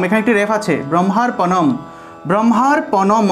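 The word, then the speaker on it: ব্রহ্মার্পণং: ব্রহ্মার্পণম, এখানে একটি রেফ আছে, ব্রহ্মার্পণম, ব্রহ্মার্পণম অনুসার থাকায় উচ্চারণটা হবে ম, অনুসার থাকে উচ্চারণ ম, তাহলে অম ব্রহ্ম অর্পণম ব্রহ্ম।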